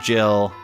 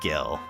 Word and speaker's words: Gil: developing those spells and yes I do pronounce it Jill not Gil so you will have to get used to that I think I'm one of the few people that does do that so we're gonna start